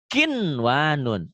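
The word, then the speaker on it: قِنْوَانٌ: Nah, maka harus dibaca kinwanun, sinwanun, dunya, bunya. Tidak dibaca idgham.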